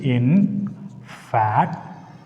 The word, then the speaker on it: infatuation: See it in fatuation. The syllable ends with the TION.